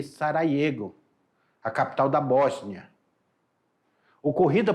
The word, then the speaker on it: Sarajevo: Se escreve Sarajevo, mas se lê Sarajevo, a capital da Bósnia.